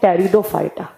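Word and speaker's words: Pteridophyta: ब्रायोफाइटा एक होते हैं टेरिडोफाइटा यहां पर टी से प्रोनाउंस किया जाता है पी को साइलेंट रखा जाता है एक मिनट मिनट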